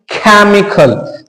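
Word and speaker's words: chemical: गया केमिस्ट्री इसको हम पढ़ेंगे केमिकल तो इस सी एच को हमने क्या पढ़ा ए खल ये लो साहब ये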